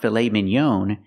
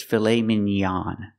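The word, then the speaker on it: filet mignon: pronounce it filet Minon it's not filet Minon it's filet minan we use the a sound the open a a like hot and stop filet minan fet minan it's a French word but we pronounce it like this in American English fet minan it's an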